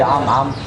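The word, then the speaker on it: Ammit: Oh, c'est vrai, la prononciation de son nom en hiéroglyphe était Am-Am.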